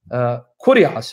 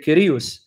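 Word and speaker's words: Κύριος: I'm now going to pronounce it what's known as the Erasmian pronunciation, not as a native Greek speaker would pronounce it. Kurios, or they would say Kyrios.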